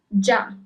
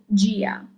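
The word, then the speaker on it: già: If there wasn't that accent at the end of the word, you will read it as gia. But as you have the accent on the last A, it is ja.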